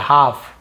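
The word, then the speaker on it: half: of your life हाफ यहां पर भी एल साइलेंट है ना हाल्फ नहीं पढ़ेंगे हाफ स लेटर ए ऑफ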